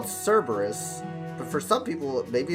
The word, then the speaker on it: Cerberus: Oh, for me, I call it Cerberus. But for some people, maybe it's Kerberos?